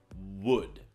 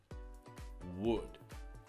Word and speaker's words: would: word wood is that the L is silent okay we pronounce the word wood wood can you see this